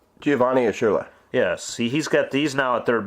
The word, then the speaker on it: Urshela: Ushurla? Giovanni Urshela.